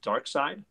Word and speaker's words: Darkseid: first full appearance of Darkseid. Depending on Kirby book. Pronounce vowels correctly. It's Darkseid.